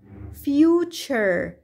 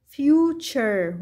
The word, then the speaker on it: future: أيضا هناك كلمات تنتهي ب T U R E وتلفظ شر شر، مثل كلمة picture picture وتعني الصورة، future future وتعني المستقبل.